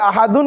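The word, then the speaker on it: أحد: হবে কি আহাদ আহাদ কণ্ঠনালীকে চাপ দিয়ে হলকের মধ্যংশ থেকে যে হাটি উচ্চারণ হয় সেটি এখানে রয়েছে তাহলে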